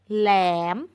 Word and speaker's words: แหลม: นี้ อ่าน ว่า แหลม แหลม คำ ว่า แหลม เป็น หอ นำ เช่น กัน เกิด จาก ห ล